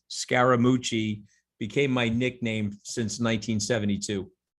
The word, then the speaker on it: Scaramucci: was a pejorative but that's the third syllable on my last name and I had a